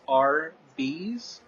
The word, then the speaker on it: Arby's: old when I realized Arby's is just pronounced is RB the letter RB which is short for roast beef damn I never